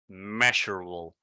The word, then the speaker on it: measurable: For example, the word, what was the word? Measurable. It has E-A, and in that case, we would say mia, mie, and it doesn't make those sounds. We say me, measurable.